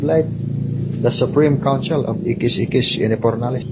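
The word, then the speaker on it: Ixis Ixis Inipornalis: the supreme council of Ikis Ikis Inipornalis. And that is spelled as IXIS, IXIS, INIPORNALIS. Ikis Ikis Inipornalis. Yes, correct.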